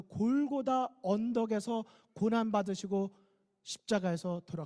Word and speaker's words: 골고다: 분이 계실 수 있는데요 사실은 같은 말입니다 이 알아 뭐 히브리어로 했을 때 발음이 골고다 인 것이고 우리 한국 막 씩으로 했을 때 그 것이라 친 으로 해서 영어식으로 바뀌면 텔 볼이 가에 갈보리 가 되는 것입니다 그런데 골고다의 뜻이 뭐에요 왜